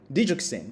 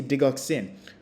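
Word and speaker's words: digoxin: Пациент, который тоже принимает диджоксин, мы так произносим, диджоксин, по-русски дигоксин, мы должны делать эко.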